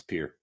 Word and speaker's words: Pierre: One thing that I did learn is that what I thought was Pierre, South Dakota, is actually Pierre, South Dakota. So if you ever say that one, it's Pierre.